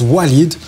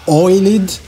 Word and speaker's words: Walid: really sorry because my name is Walid and uh some people don't get it and they call me oiled so I know that